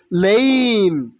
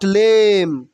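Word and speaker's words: lame: different different মানে পার্থক্য লেইম নট লেম লেইম মিন পঙ্গু অথবা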